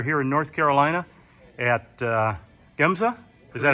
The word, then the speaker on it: Gemza: We are here in North Carolina at Gemza. Is that how you pronounce it?